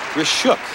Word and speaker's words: Grishuk: a told us that her name has been mispronounced and misspelled through the years it is not gruk but grishuk they're on their way